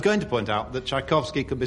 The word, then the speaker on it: Tchaikovsky: Tchaikovsky, backwards... Oh, no. Sounds like Iswakiact. Or David Nixon. You put a T on the end. Well, there's a T on the front of Tchaikovsky. It's pronounced a ch.